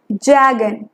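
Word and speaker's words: jargon: जैगन, यहाँ पे are silent होता है।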